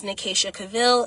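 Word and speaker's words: Nekaycha Cavil: My YouTube channel name is Nicasa Cavil. It is um I'll spell it for you.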